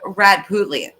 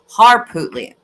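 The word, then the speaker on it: Harpootlian: man is absolutely ridiculous dick rad putley I believe I'm saying that right if I'm not correct me if you want harpootley thank you Glory thank you I knew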